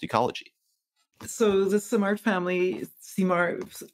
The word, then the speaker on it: Simard: So the Simard family, Simard, pronounced in French, emigrated from France and